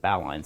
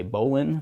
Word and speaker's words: bowline: you would say bow so that's why I pronounce it bow line sometimes it's even uh written with two words instead of one though you know kind of popular nomeclature is to say Bolan there's nothing wrong with that just explaining the